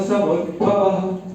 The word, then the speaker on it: समुद्भवः: यज्ञ कर्म समुद्भवः, यज्ञ कर्म समुद्भवः, यज्ञ कर्म समुद्भवः, यज्ञ कर्म समुद्भवः। मतलब यहाँ भी विसर्ग का उच्चारण नहीं होता है, वो हल्का सा ब्रेक वहां पर लेना होता है।